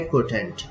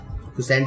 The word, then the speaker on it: quotient: है, 3 हमारा क्या रहा, 3 हमारा है क्वोटेंट, क्वोशेंट जिसे हम बोलते हैं, और इसकी स्पेलिंग होती है QUOTIENT, क्वोशेंट, या उसको हम भागफल भी बोलते हैं।